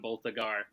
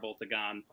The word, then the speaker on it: Boltagon: You wrote Blackagon, Boltagar. It's Blackagar, Boltagon.